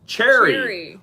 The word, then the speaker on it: Sherry: Sherry, pronounced Cherry.